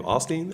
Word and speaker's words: Osteen: there somebody that's like already the hip-hop Joel Osteen? That's what I see in your future. If I had a crystal ball, I'd be like, you're kind of the hip-hop. That's how you say his name, Osteen?